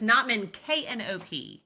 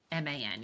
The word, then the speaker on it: Knopman: And it's Knopman, Knopman, y'all. Knopman, correct. Spell it for you people who are listening, which I think is fascinating.